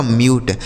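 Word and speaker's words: mute: यम यू टी ई, यम से हो गया आधा म, इस यू का उच्चारण हो गया यू, टी ई से ट, यह लिखा गया आपका म्यूट।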